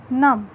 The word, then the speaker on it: नमः: न इसको हम पढेंगे नाम क्या पढेंगे नाम लेकिन जब मैं उनके पीछे विश्व लगा दूंगी तो इसमें इसका उच्चारण के बाद उच्चारण करते समय आपको हॉर्न की आवाज़ सुनाई देगी जैसे नमः अब यह नम नहीं